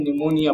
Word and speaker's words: pneumonia: यहाँ पर P silent रहता है तो PNEUMONIA पढ़ते हैं, PNEUMONIA प्नोम्यूनिया लिखा होता है लेकिन निमोनिया पढ़ते हैं।